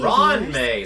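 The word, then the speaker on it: Ruan Mei: Block Madam Ron May hello de Ron May so that's how you say her name thought I suppose that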